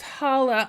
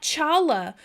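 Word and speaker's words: challah: autist oh no um it's pronounce Hala I'm sorry see see this is what happened when white people are like look at that cool tasty thing I think I'mma do it that Chala um man uh thank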